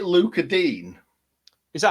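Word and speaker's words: Digne: very nice very nice did you say luca deane is that how you say it yeah dean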